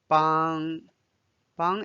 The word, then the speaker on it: 帮: 半年半天一半半夜夜 means night 半夜 Now we are learning 邦 Bānɡ is the first tone 邦 In HSK1 there are two words 邦 itself means to help.